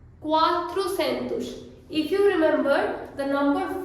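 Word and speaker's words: quatrocentos: Similarly we have 300 को Portuguese में बोलेंगे त्रेजेंतुस, त्रेजेंतुस, दुजेंतुस, त्रेजेंतुस, quatrocentus, quatrocentus.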